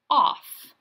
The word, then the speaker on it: off: Short vowel followed by F, L, or S gets its bonus letter. So I have 3 tiles, but it's only 2 taps. Remember, the second bonus letter is silent.